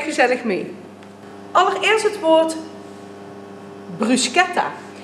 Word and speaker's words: bruschetta: Allereerst het woord bruschetta. Je zegt bruschetta en niet bruschetta. Bruschetta is namelijk een Italiaans woord en in Italië wordt de ch-klank als een k uitgesproken. Bruschetta dus.